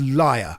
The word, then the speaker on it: Lyr: just clear something up it's liar that's how you pronounce it right l-y-r you say l-y-r yeah and uh well